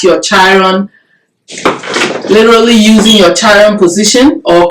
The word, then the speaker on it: Chiron: Studying your charts and literally looking at your Chiron, literally using your Chiron position, or Chiron, some people pronounce it that way, which is your deepest wound.